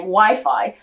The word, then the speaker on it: Wi-Fi: It was actually Case's wife Angela who came up with the name Wi-Fi after its original name wireless fidelity. It rhymes with high five.